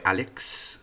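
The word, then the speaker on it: Aleksi: his name at least he goes by Alex but it's spelled a-l-e-k-s-i oh oh so his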